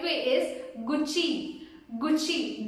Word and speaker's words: Gucci: The correct way is Gucci. Gucci. The double C you have to pronounce it as chi, which means Gucci.